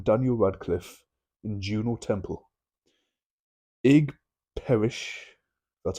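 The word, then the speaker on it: Ig Perrish: supernatural Thriller starring Daniel Radcliffe in Juno Temple egg Parish that's how you pronounce it will fall apart when he is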